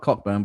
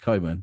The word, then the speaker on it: Cockburn: proof cockburn yeah it's it's spelt cockburn but pronounced coburn don't ask me why